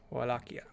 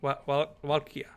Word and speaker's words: Wallachia: This one is Walkia. Spelled... I have to actually look at it again. Yes, please. Spelled like wall. W-A-L-L. Wal... A-C-H-I-A. Wallachia. Wallachia. W-A-L-L-A-C-H-I-A. Correct.